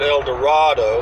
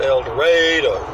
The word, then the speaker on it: El Dorado: going to El Dorado they don't pronounce it El Dorado they pronounce an elder ade why I don't know